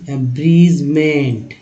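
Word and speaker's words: abridgement: अब देखिए ए ब्रीज, ए ब्रीज, ए ब्रीज, एब्रीजमेंट, एब्रीजमेंट, डी जी में डी जो है साइलेंट है, जी को पढ़ते हैं, तो अब एब्रीजमेंट।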